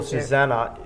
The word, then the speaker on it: Susanne: you and for people Susannah it's a it's an e that's pronounced an a at the end in case you can't